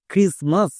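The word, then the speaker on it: Christmas: যেমন আরেকটি ওয়ার্ড দেখো ক্রিসমাস। এই ওয়ার্ডটি সবারই পরিচিত ওয়ার্ড। বাট একে অনেকেই ভুলভাল উচ্চারণ করছো এবং লেখতে গিয়েও ভুল করছো। ভুলটা হচ্ছে এই টি এর জায়গায়। কারণ টি এখানে সাইলেন্ট থাকছে।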